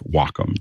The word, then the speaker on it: Wacom: talked to Wacom and it's Wacom wacom's not welcome it's not like it's water water you're welcome jokes exactly